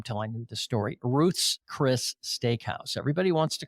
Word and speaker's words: Ruth's Chris: Ruth's Chris Steakhouse. Everybody wants to call it Ruth Chris's Steakhouse. No, it's Ruth's Chris Steakhouse.